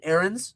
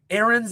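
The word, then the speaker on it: Ariens: I have an Aerands Deluxe 30. Aerens is is I I believe I'm pronouncing it correctly, but it's a r i ens. Aaron's deluxe 30.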